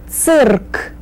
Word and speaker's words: цирк: Remember to roll your R's. Цирк.